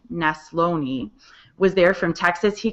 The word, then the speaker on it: Neslony: We had Todd Neslony, that's how you say his name, Neslony, was there from Texas.